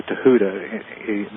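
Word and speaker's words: Thoth: th o and a lot of people uh pronounce it thof or thof but it's actually Tuda the Egyptian language is kind of like Hebrew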